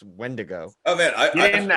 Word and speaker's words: Wendigo: So it was just kind of like, no, it's pronounced Wendigo.